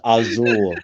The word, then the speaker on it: Asyl: says I think it's pronounced ail no it's asile assle assle it's technically it's pronounced aul in German well Dark Gift um but we're